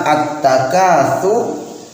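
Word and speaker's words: التكاثر: Alhaakumut takatsur, pakai ta, roknya dibaca tebal.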